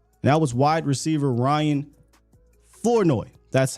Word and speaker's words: Flournoy: now was wide receiver Ryan floi that's how you say his name now when